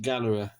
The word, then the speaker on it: Ghaaleri: to put the Galler Gallery yes Gallery I'm told you pronounce it Gallery when I I would I would want to pronounce it Galler or G any who it's as